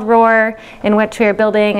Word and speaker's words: ROR: And today we are going to talk about ROARs, not like the lion roar, but that's how you pronounce it. So I'm going to talk to you about a project called ROR, in which we are building an open registry of research organizations.